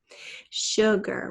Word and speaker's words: sugar: Sugar, what's our first syllable? Sh, that's a sh sound just made with an S, and then gur.